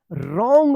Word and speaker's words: wrong: WRONG, देखिए R से पहले यहाँ पे W आया है ना, तो क्या होगा? W जो है ना साइलेंट रहेगा। रॉन्ग पढ़ेंगे, रॉन्ग।